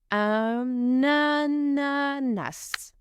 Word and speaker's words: ananas: Again, we link the preposition un with the word ananas. Un ananas.